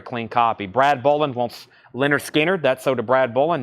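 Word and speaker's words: Lynyrd Skynyrd: T auctions evidently uh Leonard skinnard pronounce Leonard skinnard a really nice copy on the first MCA label $ 34.99 Eagles or excuse me Leonard skinnard pronounced Leonard skinnard that should be an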